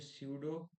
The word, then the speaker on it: pseudo: अब देखना, मैं एक काम करता हूँ, मैं क्या करता हूँ, ये स्यूडो टैग्स है, ठीक है, स्यूडो सिलेक्टर है। यहाँ पे पी साइलेंट रहेगा, पर मेरे को भी